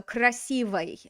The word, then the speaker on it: красивый: Okay, so, but how should I pronounce this oi? It's not stressed. Here's the stress on the word. So the oi is going to go to that kind of funny sounding oi. oy. Yeah, so красивый, красивый.